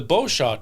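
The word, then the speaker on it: Beauchamp: so it is the bosaw tower cuz the p is silent all right why do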